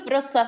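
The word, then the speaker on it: Wrocław: to be held I I hoping it's pronounced something like Vitz is that right yes so the city of vof in Poland um don't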